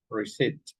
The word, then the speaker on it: receipt: You don't pronounce the P reset and pneumonia that this is pneumonia.